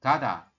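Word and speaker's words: 가다: Ini kan giok ditambah dengan A. Berarti kita bacanya adalah ga ya, Robun. Setelah ga, belakangnya ini dibaca apa? Diget ditambah dengan A. Berarti dibaca da. Seperti ini. Kada.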